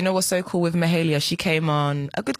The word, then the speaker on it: Mahalia: a lot she's a babe is it mahalia mahalia okay i said it right look at me